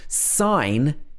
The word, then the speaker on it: sign: exceptions to this rule sign has a silent g but if you say